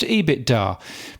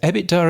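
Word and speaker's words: EBITDA: adjusted ebbit Dar I always thought it was pronounced ebit Dar but Ross Adams ended up pronouncing it ebbit Dar so ebbit Dar it will be from here on in that's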